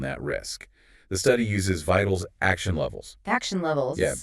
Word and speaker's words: VITAL: Vital, pronounced Vital.